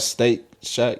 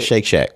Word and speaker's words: Shake Shack: Steak Shack? Is that how you say it? Shake Shack.